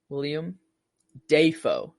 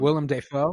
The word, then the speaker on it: Willem Dafoe: yeah I'm watching uh when I'm watching the William Defoe is how he said it um Willem Dafoe but Defoe is how he said it back